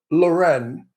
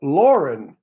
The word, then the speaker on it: Loren: oh that's like Sophia Loren it's not her name it's Sophia Lauren but everybody makes it Loren which it's not and Sophia gets annoyed